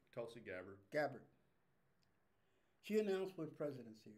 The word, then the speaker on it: Tulsi Gabbard: Tulsi Gabbard.